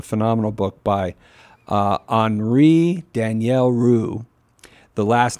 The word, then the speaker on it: Rops: But it a phenomenal book by Henri Daniel Roux. The last name is Daniel, just like Daniel. And then hyphen ROPS, R-O-P-S, it's French, it's pronounced Rue.